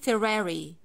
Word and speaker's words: Ferrari: how about this one i take care of the r sound which is the most important thing in the world so i say ferrari ferrari ferrari for example when he